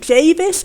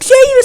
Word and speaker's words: Jarvis: It's pronounced Javis. I was getting it wrong the whole time. Uh yeah. Anyway, the development post said it rhymes with Davis.